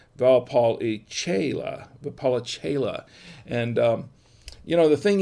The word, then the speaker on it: Valpolicella: And this is a Valpolicella wine.